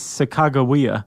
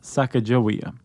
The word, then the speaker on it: Sacagawea: So, it's Sacagawea, not Sacajawea.